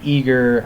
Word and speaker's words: Aegir: pronunciation problem you know how do I say ager some people say eager eager you know I call it egger so sorry if that